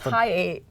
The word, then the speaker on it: Hi8: Is it like It's Hi8. Oh, okay. Like, it's spelled like this. Oh, I thought you were like, it was at the Hyatt.